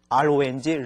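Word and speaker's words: 容: 마땅히 RONG, 롱이라고 읽어야 되죠.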